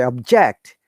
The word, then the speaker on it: object: When remember when you're using as a verb, it should be down to upper intonation. So I object. I object, Your Honor.